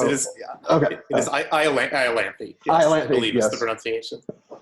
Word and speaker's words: Iolanthe: It is Iolanthe. Yes, Iolanthe, I believe yes. is the pronunciation.